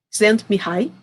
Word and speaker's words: Csikszentmihalyi: Esse nome aqui é um desafio, o Mihaly Csikszentmihalyi, essa foi a pronúncia que me ensinaram, né?